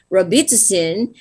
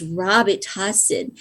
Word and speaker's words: Robitussin: a cough medicine i i pronounce it in the philippines as uh robitussin and the doctor cannot understand like well uh it's the cough medicine doctor and he was laughing at me on the phone and said it's robert hussein so much time it's the same thing it's just a different pronunciation never would have occurred to me that it's pronounced like that or penicillin it's penicillin